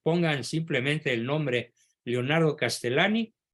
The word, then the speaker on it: Leonardo Castellani: Se pronuncia Castellani.